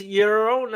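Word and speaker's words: Llorona: kitten and dancing Mo so it's eurona I did not take Spanish I can't roll my RS and the Double L is a y i take Larry K's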